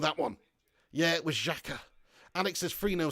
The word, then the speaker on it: Xhaka: their Danny care bias is coming on you pronounce his name always struggle that with that one yeah it was Chaka Alex is free no sounds about right yeah